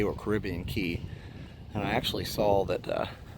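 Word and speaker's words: Caribbean Cay: it Caribbean K or Caribbean Key and I actually saw that several people said that both pronunciations were correct but more people said key so I will go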